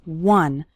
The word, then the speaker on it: one: finishing one short activity the word one starts with a w sound okay some students pronounce it like on but that's not correct it's one one short activity and